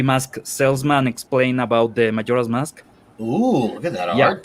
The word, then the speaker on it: Majora's Mask: How pronounce that title? Majora's Mask.